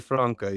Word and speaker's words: Francke: Well, it's actually, so obviously I know people call it Frankie, but it's actually Francke.